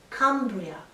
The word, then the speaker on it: Cumbria: mountains is wales and cumbria with the short u vowel is the lake district